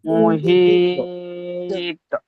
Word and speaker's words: محيط: محيط মুহিত এটা ছোট হা নয়, এটা বড় হা। এটা আপনারা খেয়াল করেন।